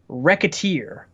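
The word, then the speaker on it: Wreckateer: and finally we have Rekha tier but spelled with a W so it's not you know right like like wrecking stuff yeah wreck is the emphasized word what do you feel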